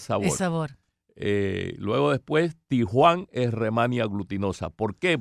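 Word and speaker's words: Di Huang: En chino se pronuncia Tijuan.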